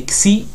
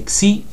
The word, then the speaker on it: xi: Pour ça, c'est xi. Donc c'est xi.